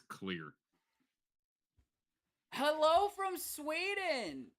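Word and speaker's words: hallå: think that's Halo that's hello so you pronounced when yeah when the a has a circle above it you pronounce it like an O basically okay so hello yeah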